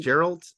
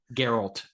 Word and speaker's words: Geralt: Gerald, I've never seen The Witcher. Geralt. Uh hard G.